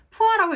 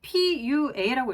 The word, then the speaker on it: PUA: 생각이 저도 스쳤단 말이죠 자 그런데 푸아라고 읽지 않습니다 정확하게 pua라고 읽어 주셔야 돼요 뭐 예를 들어서 워페이